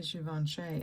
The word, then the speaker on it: Givenchy: The reason I say Givenchy is because that's how they say it originally in France, right?